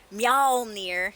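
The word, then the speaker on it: Mjölnir: Mjolnir in the UK and Mjolnir in the US.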